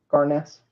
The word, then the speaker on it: Garness: garness did you know did you hear that garness we've been mispronouncing it I wanted to clear that up Matilda garness um and Emily Rolfe and Karen Frey did she say that's what it was garness yes yeah they were corrected in Dubai yeah the floor announcer let Brian friend know that that's the pronunciation and then on the